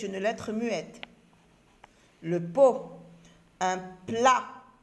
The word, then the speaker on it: plat: Un plat. Un plat. Lettre T, lettre muette.